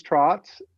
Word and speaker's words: Tracz: So my name is Trotz, pronounced like a horse trots, even though it's spelled Tracz.